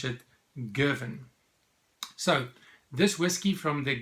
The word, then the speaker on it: Girvan: did a bit of research and apparently you pronounce it Gervin so this whisky from the Gervin distillery the Gervin distillery I've got a picture